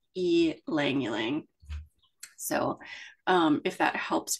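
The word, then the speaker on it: ylang-ylang: experience El langang is spelled y l a n g but you use the Y as a long e so you just pronounce it e langang so um if that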